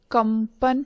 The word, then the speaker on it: कंपन: और कंपन, कंपन में अनुस्वार के बाद प आया है, इसीलिए प वर्ग का पंचम वर्ण म है, इसीलिए इसका उच्चारण कंपन किया जाता है।